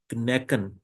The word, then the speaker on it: knacken: In the same way, we have another German word, knacken. Knacken means crack. And the third word is knoten. Knoten is knot. So in these three words, we pronounce K and N both.